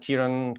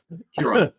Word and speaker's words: Ciaran: Do I ever say your name properly? I never know. Just anybody, unless they're Irish, say my name properly. You are very, very close, and sometimes you very get close.